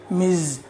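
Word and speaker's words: Ms: tumpa is a teacher let's learn the pronunciation of this word miz miz you know this kind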